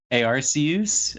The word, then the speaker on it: Arceus: days to get Arceus it's pronounced a RC who's actually a RC use arm and I apologize